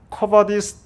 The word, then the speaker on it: Quo Vadis: 이 주여 어디로 가시나이까 이 말을 라틴어로 하면 커바디스 도미네라고 합니다. 뭐 굳이 좀 이렇게 발음을 비슷하게 코 이렇게 하나 꾸어라고 그러는데, 어쨌든 이 커바디스 도미네라고 그러는데, 우리 한번 한국말로 읽어보죠.